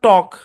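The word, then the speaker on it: talk: রাখতে হবে এলটা সাইলেন্ট যেমন এটা হচ্ছে আপনার টক টক মানে কি টক মানে কথা বলা মনে রাখতে হবে এলটা সাইলেন্ট এখানে হচ্ছে উড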